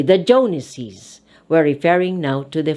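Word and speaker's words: Jones's: apostrophe s this time you have to read it by sounding an extra syllable jonases again jones mr jones j-o-n-e-s traditional is joneses we add apostrophe s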